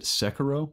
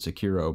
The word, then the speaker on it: Sekiro: Also saw they pronounce it Sekiro. That's how they're pronouncing it. I was calling it Sekiro, but Sekiro: Shadows Die Twice, the next game from Software.